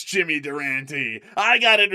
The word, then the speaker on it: Durante: Yeah, it's like Jimmy Durante or something like that or Jimmy Durant. Yeah, I think it could be. Let me pull it up. How to pronounce Jimmy Durant. So, here it is. Here it is. We've got it. Uh, Jimmy Duranti. It is Jimmy Duranti.